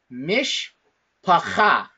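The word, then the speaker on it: מִשְׁפָּחָה: So that being said, the way that we pronounce this word right now, it is mishpacha. Mishpacha. That's how we pronounce it.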